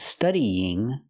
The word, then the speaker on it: studying: When I have the verb study plus the ing, you have to link the vowels. Studying. There's a y sound, a light y sound linking the two vowels.